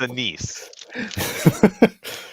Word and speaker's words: Anis: And her name is spelled Anis. Anis. Okay. Anus. But it's a niece. Don't make the same mistake everybody else did.